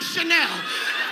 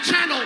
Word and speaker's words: Chanel: I like Chanel. I know I pronounce it channel, but nigga, don't you fuck this money up.